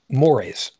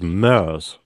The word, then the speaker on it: mores: mores. Yeah, mores. Is that how you pronounce it in English? Yes, I was listening to the same episode very recently. Okay. I thought it was mers.